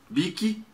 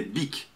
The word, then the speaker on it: Bic: Bic é Bic, não Bic.